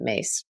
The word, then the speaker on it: Myss: here again Carolyn mace it's myss but she pronounced as it mace uh really helpful book